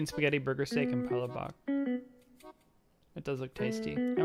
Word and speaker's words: palabok: Palabok. But the stress is on the second syllable.